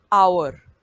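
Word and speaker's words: hour: यहां पर भी और यानि के एच को साइलेंट रखा गया है नेक्स्ट वर्ड आप क्लियर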